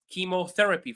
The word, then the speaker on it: chemotherapy: So uh some of them is um chemotherapy for instance. It's quite bad word but I'm I'm sharing anyway. Uh so these are some nice words. So that have ch pronounced as C.